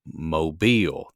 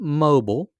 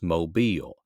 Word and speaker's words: Mobile: the southwestern portion, and this is down around Mobile. That's how you pronounce that name. It's not mobile, it's Mobile.